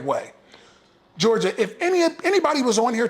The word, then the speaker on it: Georgia: That's Georgia, just like the state, Georgia.